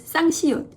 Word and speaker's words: 쌍시옷: When you pronounce 쌍시옷, you can actually feel your throat gets closed. s.